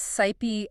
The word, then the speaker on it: scipe: That's 'scipe' S-C-I-P-E, It's pronounced like ship.